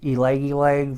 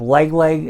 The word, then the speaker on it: Ylang Ylang: I know some people pronounce it Ylang Ylang, but you have Lang Lang in there.